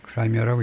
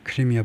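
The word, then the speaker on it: Crimea: 그러니까 2013년 후에 왜 안 되냐면 2014년에 그 크라미아요. 크라미아라고 읽죠. 우리는 이제 크리미아 반도 크리미아 반도를 침공해 가지고 합병시켜 버렸죠.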